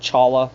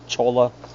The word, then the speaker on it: cholla: And for those that are not familiar with the Sonoran Desert, these are pronounced cholla, not cholla. Not challa, cholla, no, cholla. Sorry, not trying to be